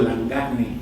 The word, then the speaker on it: Langagne: Como ven, mi apellido es francés y yo lo pronuncio en español, yo digo Langagne, entonces por esa razón digo también, que es como habitualmente